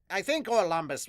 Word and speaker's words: Orlumbus: I think Orlumbus was the proper way to say it, is it?